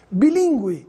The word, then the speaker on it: bilíngue: da pronúncia do Gu mudo para o Gu pronunciado Gu guerra sangue largue Gu aguentar bilíngue en chago da mesma forma vamos ver a